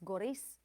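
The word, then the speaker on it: Gorice: Goris on the goris, goris, that's goris on the last syllable, rhyming with thrice.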